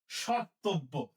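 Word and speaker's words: স্মর্তব্য: দেখো এখানে যে মফলা ছিল, ময়ের উচ্চারণ আমি কি ম ওখানে লিখেছি? না, ময়ের উচ্চারণ হচ্ছে না, যেহেতু মনাসিক্য ধ্বনি তাহলে চন্দ্রবিন্দু দিতে হবে। তাহলে কি হবে?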